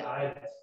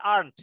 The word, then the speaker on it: aren't: Ini tulisannya aren't, Michael, tapi bacanya aren't ya, bukan aren ya. Apalagi dibaca aren ya, jadi aren. Gula aren.